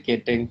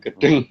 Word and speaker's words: Gedeng: Ee mungkin cukup ini aja penjelasan dikit bahwa namanya Gedeng Pramoni atau Batari Durgo. Jadi bacanya bukan gedung gedeng pramoni atau sang yang berat dari Durgo itu bukan Batara Durgo ya karena Batari Durgo itu perempuan.